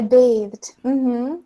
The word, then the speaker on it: bathed: okay okay yeah yeah I bathed so it has kind of a long a sound very good and um